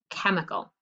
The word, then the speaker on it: chemical: what's the first syllable it's not chem it's chem e chemical so what makes the k sound the ch like chorus very good okay i